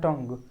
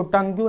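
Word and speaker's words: tongue: ठीक उसी प्रकार से देखें तो टोंग पढ़ते हैं, टोंग, इसको टंग्यू नहीं पढ़ते हैं, टंग पढ़ते हैं।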